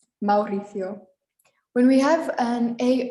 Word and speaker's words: Mauricio: vowels are pronounced separately it's just common to say them together and make an ow sound like ciao we had earlier ciao